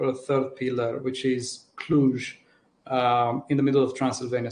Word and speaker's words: Cluj: Cluj? Cluj. With the J.